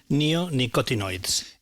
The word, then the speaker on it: neonicotinoids: should so the these chemicals how do you pronounce them Neo neonicotinoids so oid means something like so nicotine means